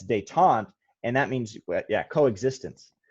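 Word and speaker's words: détente: war detente yeah yeah we say daetan but the intent is how i say in my head so i can spell it right but yeah it's they taunt and that means yeah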